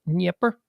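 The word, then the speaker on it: Dnieper: so d nipper river it's actually pronounced nipper this is the nipper river and the nipper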